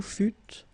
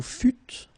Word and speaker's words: fûtes: Okay, then nous fûmes, final S not pronounced. Vous fûtes, same thing.